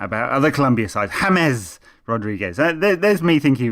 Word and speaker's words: James: James Hames Rodriguez. There's me thinking he was called James.